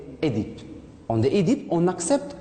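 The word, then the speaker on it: Œdipe: il y a la première prononciation, on prononce Édipe. On dit Édipe, on accepte Oedipe, mais on ne dit pas Oedipe. Oedipe, on accepte maintenant, mais bien sûr, d'abord, on l'a prononcé avant, c'est Édipe. Donc, prononcez Édipe.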